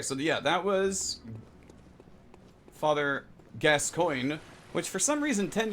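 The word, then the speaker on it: Gascoigne: up Kaka okay so yeah that was Father gascoin which for some reason 10 years ago people had a hard time pronouncing it's not it's g s cyg gas coin not kagon glams yes we're making fun of English speakers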